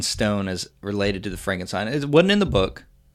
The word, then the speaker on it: Frankenstein: frankenstein' you're putting me on no it's pronounced Frankenstein do you also say Frode Rick why isn't it friend with Frumkin steam it isn't this Frederick Frankenstein